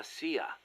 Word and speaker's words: CIA: here they say la Sia instead of CIA huh nothing strange about it that's how it's pronounced when you read it in Spanish it has the feminine